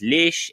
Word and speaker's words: léche: This might be received via French, in which case it becomes leche and is pronounced leche in English. Otherwise, it becomes lechy in English.